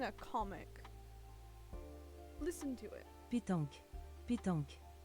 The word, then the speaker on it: pétanque: That explains why I can't pronounce it. Pétanque.